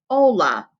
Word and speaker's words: hola: here we would have h's are silent like an honor and our o like in taco and ah like in taco would give us the pronunciation of this first word hola now like when i